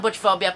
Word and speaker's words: Butchphobia: I'm Butchphobia, pronounced without a T, and this is a 1 minute question and answers video.